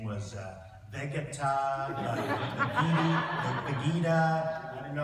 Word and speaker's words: Vegeta: And his name was Vegeta, Vegeta.